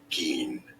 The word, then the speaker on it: Gein: Gein. I know it's not obvious from the spelling. Ed Gein. But that's how you say it.